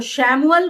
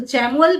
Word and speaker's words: Chamuel: अच्छा, आर्कएंजल चैमुअल, कुछ लोग इनको शैमुअल बोलते हैं, आर्कएंजल चैमुअल भी बोलते हैं।